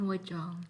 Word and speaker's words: Wajong: I am Wajong. What? What? Wajong. Oh, you- I thought it is was. that how I you think you said pronounce it? mahjong, like the game.